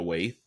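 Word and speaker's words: Waithe: And yeah, but on a on a more positive note, actress and film producer Lena Waith, is that is that how you pronounce Waith? Right. Yeah, it's Waith has a podcast has a show and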